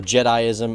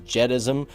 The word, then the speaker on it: Jediism: you're pronouncing jedism or jediism as jedism it's pronounced jedi-ism now I actually called